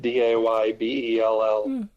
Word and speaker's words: Daybell: It's spelled how it's said, Daybell.